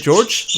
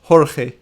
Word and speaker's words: George: actually pretty fun because your name is actually pronounced George like it could be Jorge or something like that in Spanish and you're actually called George and so it's not Jorge well Brazilian way to